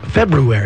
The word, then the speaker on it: February: you're going with this I don't pronounce the r i don't oh please no more and Rob Allen The Lovable Rob Allen February what is it February very nice Bel the school of